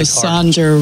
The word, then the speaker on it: Sonder: for the word drones also saunder rhymes with yonder and you could do